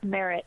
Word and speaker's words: Marrott: So no, you're saying it right, Marrott.